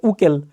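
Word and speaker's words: Haeckel: Organic একটা কথা বলছিলাম, আমাদের অর্গানিক প্লেলিস্টে দেখবা হাকেল তত্ত্ব, ওইখানে হাকেল শব্দটা আসলে উচ্চারণ হয় উকেল, কিন্তু বইতে কি করছে, ওই যে এইচ দেখে ওটা মনে করছে যে হাকেল হবে, হাকেল লিখে ফেলছে।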